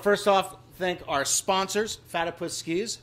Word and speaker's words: Fatipus: And I want to first off thank our sponsors, Fatipus Skis. Fatipus, not Fattypuss. Rhymes with platypus.